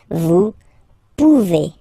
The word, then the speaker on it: pouvez: A Z like that, okay? Remember you pronounce it A, okay? Vous pouvez.